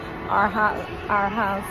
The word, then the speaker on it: Arhaus: It was kind of like a slogan, our house, the way it's pronounced, but it's not necessarily in the English form that you would understand. It's just like a name, but the sound of it is our house, like if it's our house to your home.